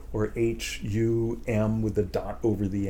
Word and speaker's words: hum: So it's Hum, H, then a long U sound, Oo. And then the it's the nasalization, like in French word for good, bon, right? Bon. You see it written, it's not bone, it's not baume, it's not bong, it's bon.